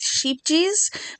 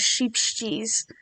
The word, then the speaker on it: Scheepjes: brand of yarn but I'm going to go with sheep G because that's what Crystal from bagot day says is sheep cheese um but I got